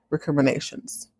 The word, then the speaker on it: recriminations: I believe it's recriminations. Watch out. Still the macaroni. That is how you pronounce it.